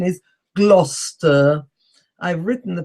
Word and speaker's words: Gloucester: ones are Gloucester, spelt Gloucester, but it's not Gloucester or Gloucester or Gloucester. The pronunciation is Gloucester. I've written the pronunciation at the end with a black border around it. That's the actual pronunciation, Gloucester.